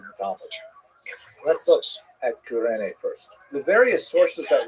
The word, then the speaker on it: Cyrene: I've looked it up and I've heard it pronounced as Cyrene in English. In Greek, it would have been something like Kurene. So I'm probably going to say Kurene, and I'll probably be wrong, but this wouldn't be the first time.